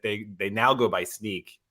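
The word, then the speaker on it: Snyk: their site that they they now go by sneak like which i don't i i i it's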